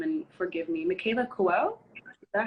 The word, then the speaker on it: Michaela Coel: Michaela Coel? Is that how you pronounce it?